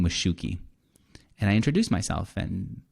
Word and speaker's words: Shuki: s-h-u-k-i and she said oh like a shoe key you know like a key for shoe and then she moved